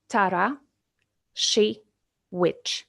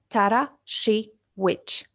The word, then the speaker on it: Tarasiewicz: for many people so I will give you a hint um it's like that Tara she wi you can try it by yourself Tara she witch or Y tarich